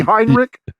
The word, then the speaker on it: Heinrich: anything slightly wrong would would it be hind Rick is that correct y that's right okay all right well